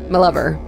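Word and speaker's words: M'Lover: it's pronounced My Lover? Sorry, yeah. My capital, capital M apostrophe Lover. My Lover.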